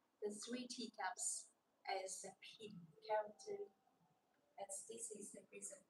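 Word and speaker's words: 品: This layout is a shape like a Chinese character pin, pin, pin. We pronounce it pin.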